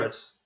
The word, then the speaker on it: Zalatoris: then my boy Will Z, because I can't pronounce his oh, last Will name. You want to hit me? Zalatoris.